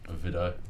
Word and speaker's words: Vidau: How do you pronounce it? Vidau. Vidau, there you go.